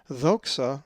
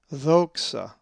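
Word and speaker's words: δόξα: If you said doxa, you are correct, as the accent is over the omicron, which looks like our English O. The omicron will be our next Greek letter. So this Greek word is pronounced doxa.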